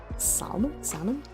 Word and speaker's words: salmon: It always strikes me as weird when people pronounce the L in the salmon. Did I say salmon? Salmon?